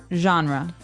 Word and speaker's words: genre: It's a soft soft sound.